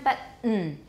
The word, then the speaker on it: button: 那个刚那个发音是哪个字用的? Button. Button. Everyone, button.